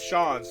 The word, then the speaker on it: Shans: The pronunciation of Shans is the same as Shans, like chance, but with a sh at the start.